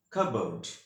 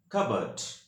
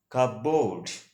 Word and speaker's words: cupboard: word is covered in american english the correct pronunciation of this word is covered and in british english the correct pronunciation of this word is covert but you should not pronounce of this word is cardboard which is not correct that's why you say